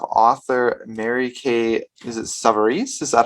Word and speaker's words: Savarese: today we have author mary kay is it sovereigns is that how we pronounce here yes uh and she has written